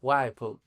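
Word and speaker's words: Whipple: Wple Vanen Philips, eh, que se debe pronunciar Wiple. Claro, Van Buren. Wiple. Boren Felips. Eh, bueno, como el como el los el lavarropas, no es W H I PP L.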